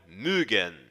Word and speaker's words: mögen: Para pronunciarmos a letra O com o trema, ou seja, os dois pontinhos sobre ela, temos que fazer um biquinho com a boca e falar suavemente, como se estivéssemos esticando a pronúncia da letra O.